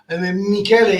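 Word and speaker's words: Michele: It's not it's not an sh sound. It's a hard k. Mikuel is Italian. Michelle, do you say it Michelle?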